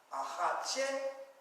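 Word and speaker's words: axatse: So the accent, how many syllables? Ahache. That's 3 syllables. And the accent is on which syllable? Is it on the first syllable? No. Is it on the second syllable? No. Is it on the third syllable? Yes. Ahache.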